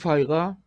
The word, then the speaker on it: π: 파이가 파이의 정수배 따라서 파이는 발음을 잘해야 되는데 얘는 F 발음이에요 파이 이거는 피 발음이에요 파이 그래서 유상수 파일과 파이 에 그 2분의 파이가 π에 정수 배웠잖아요 거기도